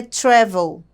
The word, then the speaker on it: travel: Só que a sílaba tônica não é a última. É a primeira, é travel, tá?